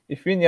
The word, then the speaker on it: Ifeanyi: Well, it's pronounced Ifeanyi. Oh, Ifeanyi. You Ifeanyi, stress the sorry. A.